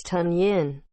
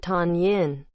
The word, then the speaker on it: Tonyan: pronunciation in late october it's tun yin not tan yin i had to earn